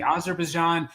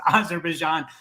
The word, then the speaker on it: Azerbaijan: about the former Soviet Union and the teacher mispronounced the country Azerbaijan and my daughter raised her hand and said excuse me it's pronounced Azerbaijan and the teacher says I'm sorry you know